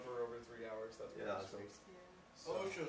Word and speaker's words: OSHA: over three hours that's OSHA is pronounced Osha Osha is a workplace safety